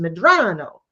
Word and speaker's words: Medrano: And she told me, I believe you likely are Hispanic and your name is pronounced Medrano.